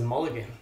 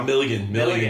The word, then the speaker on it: Milligan: I thought it was Mulligan. No, Milligan, yeah.